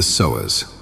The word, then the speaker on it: psoas: Its name is the psoas, pronounced Psoas.